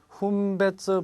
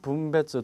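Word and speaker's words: 分別: 분배조 키친또 시데이로 쓰레기에 자, 요때 분별이라는 단어는 발음이 2가지가 나옵니다. 훈배츠, 분배츠 2가지가 나오는데 분배츠라고 읽어버리면 구분, 분리라는 의미가 되겠고 훈배츠로 발음하시면 사려 분별이 있다라는 의미의 분별이 되겠습니다. 그래서 여기서는 분배츠라고 발음을 하셔야 되겠죠.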